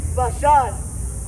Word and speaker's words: Bashan: And I will bring Israel again to his habitation, and he shall feed on Carmel and how do you say Bashan? Bashan.